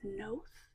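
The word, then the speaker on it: Knowth: or ancient burial site known as Nath. It's spelled K N O W T H.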